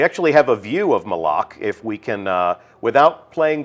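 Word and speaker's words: Malok: Malak. Right. Official pronunciation confirmed. So Malak. if you hear anybody saying Malak, send them right here to the archive of this stream. Our design lead has told us it's Malak.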